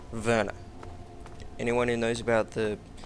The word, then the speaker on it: Werner: guy's name if you're it's spelt Werner it's a German origin so it should be pronounced verner anyone who knows about